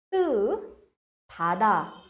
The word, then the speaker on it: 따뜻하다: Now, how are we pronouncing 따뜻하다? 따뜻하다. 타다. When these two come together, it is pronounced as 따뜻하다.